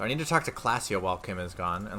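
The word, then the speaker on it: Klaasje: Classia is pronounced Classia.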